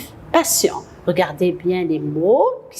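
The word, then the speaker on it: patiemment: Faites attention, le ENT, on va le barrer. On va mettre EMAN et on va prononcer patient.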